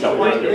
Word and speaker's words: winded: so it's winded, but we'll make it rhyme with the mind and it's winded.